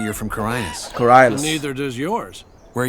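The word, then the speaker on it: Khorinis: They pronounce it here Carines or something. Even though in the original they all pronounce it correct. Corines.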